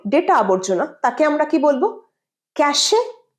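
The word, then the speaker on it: cache: ফ্রমজমা suffering ফ্রমজমা পরেরটা ক্যাশে ক্যাশে ভুল ক্যাশ ক্যাশ আমাদের সিস্টেমে মোবাইলে বল ট্যাবলেটে বল অথবা কম্পিউটারে যে আবর্জনাগুলো জমে ডেটা আবর্জনা তাকে আমরা বলব ক্যাশে না ক্যাশ তোমার ডেটা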